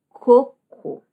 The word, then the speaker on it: cocô: Então, o que antes era uma fruta, que era o coco, vai ser agora coco. Coco. A força da sílaba tônica está na segunda.